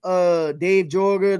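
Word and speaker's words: Joerger: do y'all remember Dave Jorger, the guy who used to be, I think it's Yeager is how you pronounce it, Dave Yeager, who was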